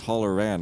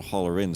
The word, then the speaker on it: Holleran: That's Holleran, not Hollerin, so it rhymes and it's not the same word.